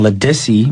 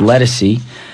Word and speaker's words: Lissy: that we said earlier we kept on saying lissy but the artist name is actually pronounced lessy I like I like